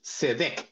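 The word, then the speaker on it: צדק: justicia la palabra justicia en el hebreo es seet así como se escribe s e q Perdón s e d e q cedec cedec dije sequ lo dice al revés cedec Esa es la palabra y esta palabra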